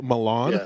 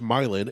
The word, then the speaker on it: Milan: named after other cities we have milan which they pronounce milan and get very mad if you say milan we have a paris